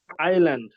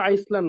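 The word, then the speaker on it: island: ভাগ্নি ভাগ্নি আইল্যান্ড এটার উচ্চারণ কিন্তু আইসল্যান্ড না উচ্চারণ কি অনেকে বলে আইসল্যান্ড এ উচ্চারণ কি আইল্যান্ড এরকম একটা এখন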